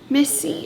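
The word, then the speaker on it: MIS-C: thing i found was it could be miss c misty it's it's a weird way to pronounce it mis hyphen c and that is actually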